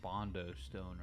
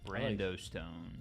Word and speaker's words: Brando Stone: I also, to correct myself, think I said Bondo Stone earlier. I may not have, but it's Brando Stone.